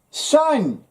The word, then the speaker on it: sign: Sign. Well, you don't hear that G.